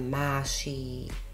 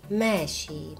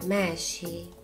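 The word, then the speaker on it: ماشي: so mnou aj výslovnosť Máši sa vyslovuje ako také e a a spolu nie je to úplné Máši ani mši znie to niečo ako e a a spolu mši mši ani znamená odchádzam zároveň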